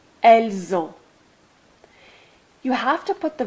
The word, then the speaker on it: elles ont: You'll see that in this last or second column, you always pronounce a Z between the S and the A. Nous avons, vous avez, ils ont, elles ont. This is called liaison.